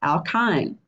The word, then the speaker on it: alkyne: a Y in E ending and it is pronounced alkyne again two categories cyclic or a cyclic and